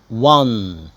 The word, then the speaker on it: won: يفوز مشكلة بقى الباست منها النطق بتاع كلمة فاز أو كسب won، مش win won، كأني بقول number 1، يبقى win won.